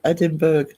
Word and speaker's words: Edinburgh: Yeah, that's often said because there's a lot of places that have the BURGH at the end. I mean, there's even in this county, there's Bamborough and Dunstanburgh. They're very close to each other, but it's Borough.